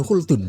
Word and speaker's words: Khaldun: Ibnu Khaldun mukadimah lah beliau bacanya Ibnu Khdun bukan Khun ya.